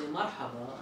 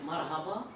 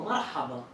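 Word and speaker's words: مرحبا: I say marhaba, and they say marhaba. No, marhaba.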